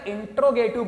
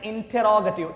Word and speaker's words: interrogative: अक्सर बच्चे इसको बेटा interrogative बोलते हैं, but it's interrogative. Interrogate होता है. पुलिस क्या करती है? Interrogate करती है. So interrogative. Gative नहीं बेटा, ग.